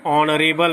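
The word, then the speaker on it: honourable: 22, ही इज not blank ऑनरेबल मैन। यहाँ पे क्या हो रहा है उच्चारण?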